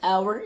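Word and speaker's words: hour: وده طبعا لتسهيل النطق علشان كده برده بنقول على كلمه اور اللي هي ساعه اتش او يو ار بنقول ما بنقولش عليها لكن الاتش سايلنت انا ليا دعوه بالساوند ما ليش دعوه بالحرف خالص فيبقى قال اكتبوا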